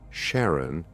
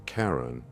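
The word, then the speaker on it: Charon: fairyman of the deceased explaining the pronunciation as Sharon rather than Karen.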